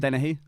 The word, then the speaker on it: Dennehy: Joanne denied this, but it's pronounced Dennehy.